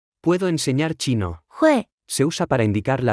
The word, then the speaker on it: 会: 会，会，会，会，会，会，会， Se pronuncia con el cuarto tono.